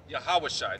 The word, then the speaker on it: Yahawashi: hebrew name being hamashiach yehawashai that's actually how you pronounce his name in the hebrew read and unto him